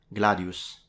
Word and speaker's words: gladius: pronunciation for those who are interested, the word is pronounced gladius. The S at the end Gladios. is a voiceless alveolar retracted sibilant, and both vowels are short when it comes to phonemic vowel length.